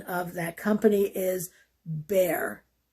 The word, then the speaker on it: Bayer: for a company named Bayer. That is the German pronunciation. The anglicized pronunciation of that company is Bayer. Bayer aspirin.